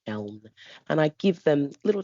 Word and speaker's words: Siobhan: In which case, then I go down to my usual lines of there's no H in Siobhan, there's no H in Sinead, there's no H in Sade, and yet here we are.